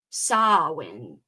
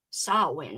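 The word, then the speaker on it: Samhain: Sawin or sin? So, does it matter if it's like an A or an O? How does she say it? Sawin. Sawin with an A. Why? Why was I saying it wrong all along?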